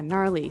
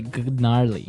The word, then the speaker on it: gnarly: Yeah, gnarly. So an interesting word, it's spelled Gnarley. Okay, so, but you don't say gnarly. No, You just- say gnarly.